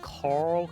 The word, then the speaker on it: Carl: Oh, my guest today is Kyle. Sorry. Actually, you said it wrong as well. You're gonna have to do a. It's Carl.